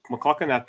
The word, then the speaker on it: McLaughlin: McLaughlin. That's how you say it.